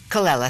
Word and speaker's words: Colella: I can't pronounce it. Colella? Colella, thank you, Jen Colella from Urban Cowboy, and he's got Sal Viviano, who's been in a lot of shows.